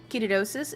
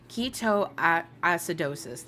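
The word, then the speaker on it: ketoacidosis: Ketoidosis is no joke. If you smell like sweet almonds in any way, go to the doctor. Oh, keto keto acidosis. That's how you say it.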